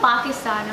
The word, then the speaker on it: Pakistan: We're from Pakistan, okay? You can't say it like Pakistan. The Angrez way. You have to say it the proper way.